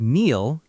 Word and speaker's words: kneel: The word kneel, K-N-E-E-L, once every letter sounded. Now the K is silent.